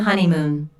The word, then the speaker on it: honeymoon: to the stress on honeymoon there are three syllables in honeymoon with the stress on the first syllable this content word is